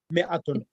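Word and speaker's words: مائة: Note that in ma'itun, the alif is not pronounced. It is pronounced Mi'atun.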